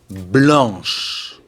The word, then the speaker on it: blanche: Mais attention, au féminin singulier, il faut ajouter un H et un E. Blanche.